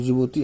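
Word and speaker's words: Djibouti: Somalia इस Ethiopia ती जिबोती ऐसे लिखा है डी जे आई बी ओ यू टी जीती डी इसम साइलेंट हो जाता है तो ये कुछ क्वेश्चन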